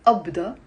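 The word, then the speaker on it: أبدة: If I use the word qabda, but I will not pronounce it qabda, I will say abda, and it means something like a payment.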